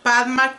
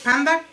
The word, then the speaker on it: Padma: No sé si está bien pronunciado así, Panda. Es Padma, ok, Padma. Yo estoy como que con el panda, no es panda, ok. Es Padma, Padma Crow.